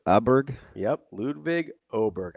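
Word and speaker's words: Åberg: Oh, Oberg. Aberg. Yep. Ludvig. Oberg. I believe with the umlot above it, it's pronounced as Yeah, correct.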